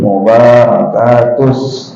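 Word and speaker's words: al-mubārakāt: yang kebanyakan salah juga B itu pendek ada orang panjang attahiyatul mubarakatus ada nikada dibacanya pendek attahiyatul mubarakat shawat kadang-kadang di tvan-akan biasanya di itu gurunya seorangaj attahiatul mubarawat ya bnya at panjang harusnya panjang attahiyatul mubarakatus nah soalnya bin artinya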